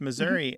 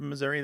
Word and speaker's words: Missouri: we really see here it's not Missouri alone that is sometimes pronounced with that e becoming an a there are other words